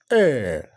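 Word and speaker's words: heir: know uh so the the correct pronunciation is er ER so we talk about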